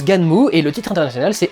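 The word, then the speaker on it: Gunnm: Pendant des années, j'ai dit Gun. Apparemment, le son Gun, ça n'existerait pas chez eux, donc ils font Gan et Mu et pour le NM. Donc ça se prononce Ganmu et le titre international c'est Alita Battle Angel.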